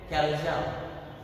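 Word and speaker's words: chalaza: क्या प्रोनाउंसिएशन करायला बात ये है कैल्जा.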